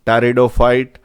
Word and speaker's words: pteridophyte: though pea is that it is pronounced as ptaridophyte gymnosperms and the well-dominating